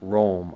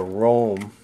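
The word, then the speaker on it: Röhm: Well, it turns out there's a chuck company from Germany that I think is pronounced like Rome.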